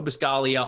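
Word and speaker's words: Buscaglia: go follow him joe biscaglia on twitter there's a g in there at the end of his last name but the g is silent like lasagna always work over at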